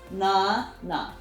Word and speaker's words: 나나: So how would you pronounce this? Na, na, nana.